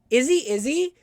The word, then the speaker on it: Izzzyzzz: It's Izzy, but it's spelled IZZZYZZZ. 3 Z's, first letter I, 3 Z, Y, 3 Z. Izzy.